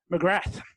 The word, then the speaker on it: McGrath: Now I'm going to give you the credit of using the American pronunciation. Mcgrath.